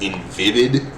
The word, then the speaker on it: Invivyd: I think it's pronounced Invivid Incorporated, and that's it's spelled INVIVYD.